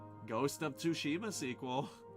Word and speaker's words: Tsushima: way that is actually how you're supposed to pronounce it cuz ghost of tsushima was still a really good game and then